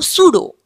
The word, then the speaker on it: pseudo: Now, pseudo, the meaning, here the P is silent.